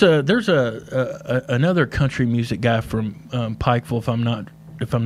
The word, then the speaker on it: Pikeville: And you said it right, I think. Pikeville. Pikeville, that's right. Yeah, I get a lot of comments on that Right. long I.